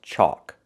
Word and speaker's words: chalk: This word is chalk. It has a different spelling. It has the a l where the L is silent. Chalk. It makes the a sound like walk and talk.